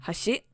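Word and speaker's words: 橋: For example, hashi means chopsticks, with the first syllable being accentuated. But if you say hashi, it now means a bridge.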